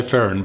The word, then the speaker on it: Ferin: Is it Ferren? Well, I would say Ferren, but I would also say you can pronounce the names however you like.